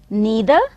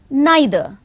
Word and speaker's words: neither: टी एच ई आर यह है नीदर या नाइ दर दोनों ही आपको उच्चारण कर सकते हैं लेकिन एक समय एक ही उच्चारण करेंगे दोनों उच्चारण एक साथ नहीं देखिए सबसे पहले हम